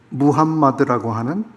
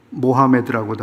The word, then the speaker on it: 무함마드: 코란의 가르침을 그들이 존중하면서도 그들이 실제적으로 살아가는 스탠더드는 뭐냐 하면 무함마드라고 하는 그들의 선지자입니다. 모하메드라고도 하죠.